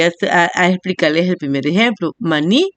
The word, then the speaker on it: maní: Maní, ¿cuál es la sílaba tónica ahí? Usted va a encerrar la palabra ni, porque ahí está la mayor fuerza de voz.